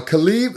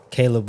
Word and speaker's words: Caleb: Um, uh, Khalib, is it Kh Wilson? Caleb Wilson. I always get his name wrong, bro.